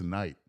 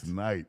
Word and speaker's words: Knight: Curtis Knight. Yeah. Ooh. And it's this. And the K is silent. Knight.